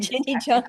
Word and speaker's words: Jeni Jonte: How do you pronounce it Jenny? That was very close. Jenny Jean T. Like French. Jenny Jean Jenny Jean T.